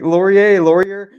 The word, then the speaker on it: Laurier: Maybe is there a French like Laurier? Yeah, you got it.